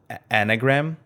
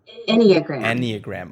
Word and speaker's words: enneagram: practitioner that you are today and if i'm pronouncing that right it's called anagram enneagram okay enneagram yeah yeah so that is this